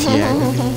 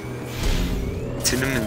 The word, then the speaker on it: Tiananmen: Fuck, Tiananmen Square?